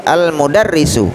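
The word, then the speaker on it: المدرس: Maaf saudaraku, bukan al-madrasatu tapi al-mudarrisu, ya, artinya guru, ya. Karena al ini, ya, alif lam ta'rif ini harus dibaca dengan jelas.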